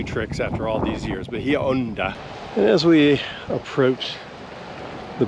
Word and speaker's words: Bahia Honda: the state park, and it's pronounced Bahia Honda in Spanish. I spent a lifetime as a kid, way back when. We always called it Bahia Honda.